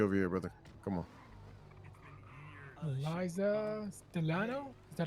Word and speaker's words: Eliza Stellano: Eliza Stellano? Is that how you pronounce it?